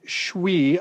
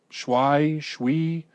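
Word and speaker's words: Schwi: And so Tet relays the story of Riku and Shui. I think I'm pronouncing that right. It's S-C-H-W-I. Shui.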